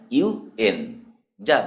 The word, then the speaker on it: UN: এখানে ইউএন এর উচ্চারণ হয় ইউএন যা ব্যঞ্জন ধ্বনির মতন শুরু হয়। সেজন্য এর আগে এ ব্যবহার করা হয়।